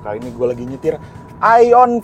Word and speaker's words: AION: udah pakai tulisan AION, Aion. Bacanya sebenarnya Aion ya, karena dia artinya AI on the road ya.